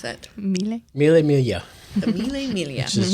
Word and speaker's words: Mille Miglia: There you go, you can pronounce that. Mille. Mille Miglia.